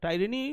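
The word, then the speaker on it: tyranny: double N ওয়াই তাহলে কটা syllable আছে এর একটা হচ্ছে টাই আরেকটা হচ্ছে রেন আরেকটা হচ্ছে নি তিনটে সিলেবেল আছে তাই না টাইরেনি ওয়ার্ডটাতে তিনটে সিলেবেল আছে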